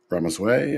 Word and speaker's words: Ramaswamy: Well, fast forward to now in our country, he and another politician, Vivek Ramaswamy, I pronounced his name correctly, are going to head up the Department of Government Efficiency.